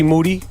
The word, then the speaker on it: Moody: Moody, last name rhymes with duty, a.k.a.